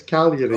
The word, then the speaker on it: Cagliari: just the G is silent, so it's Cagliari.